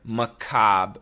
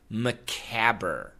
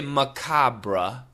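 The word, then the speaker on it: macabre: If you look at the word, it looks like macabber, but it's not macabber. Some people say macabra, but the typical pronunciation is simply macab. Yeah, it's the spelling and the pronunciation do not match.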